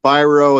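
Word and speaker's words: Biro: at the very beginning he says uh Charles byro and then he says pronounced by b-u-y Dash row r-o-w so it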